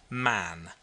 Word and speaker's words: Mahon: white long beard and his name was mahon but he insisted that it should be pronounced man he was well connected